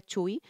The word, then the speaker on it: Chuy: lo pronunció mal vale aquí en España se pronuncia Chuy Chuy Lizárraga vamos a reaccionar a